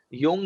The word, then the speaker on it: Jung: repeat the writer's name young is j j-u-n-g it is pronounced as y but written as j carl jung maybe ishita